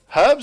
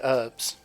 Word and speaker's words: herbs: uh yeah herbs yeah herbs is correct there's a there's a h and herbs I don't know why Americans say herbs right I'm gonna get